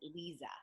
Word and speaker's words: Liza: And today I have Liza, and she spells it Lisa, but she pronounces it Liza.